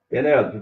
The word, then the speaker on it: Penélope: Penélope, o seu nome recebe acento porque ele é proparoxítono. A sílaba tônica é legal, gostei que você usa o acento no seu nome.